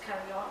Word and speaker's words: carillon: A carillon, which should be pronounced carillon, is a bell tower.